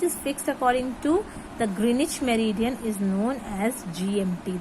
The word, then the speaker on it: Greenwich: Now, next topic is the Greenwich Mean Time. I told you that don't pronounce it as Greenwich.